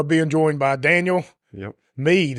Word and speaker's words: Meade: Meade, is that how you pronounce it? That's Meade. it.